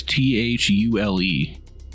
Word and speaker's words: Thule: of the Thule Society, or Thule, I believe it's pronounced. What? Cthulhu? There's a thing, no, it's Thule.